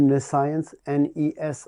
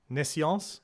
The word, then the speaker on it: nescience: Like NE and science afterwards. Like omniscience, but instead of omni, you put NE instead. NESC, like necessity. NE. Yeah. No, NESC. NESC. Yeah. IENCE. IENCE. Nescience.